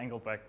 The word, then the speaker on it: Engelbrecht: I'm not going to do the German pronunciation. Just we keep it at Engelbrecht because things get complicated.